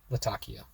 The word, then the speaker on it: Latakia: I'll admit first, I've been pronouncing it wrong. It is a port city in Syria, and it is in fact pronounced Latakia.